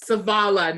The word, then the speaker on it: Savala: Do I pronounce because it's so then it's more like an E sound instead of no, you're putting the accent on the front, Savala, and it's in the middle, Savala.